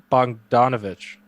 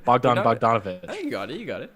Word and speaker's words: Bogdanovic: one off the cuff mr bongovich i i just pronounced that wrong didn't i bogdan bogdanovic thank you double teamed corner instead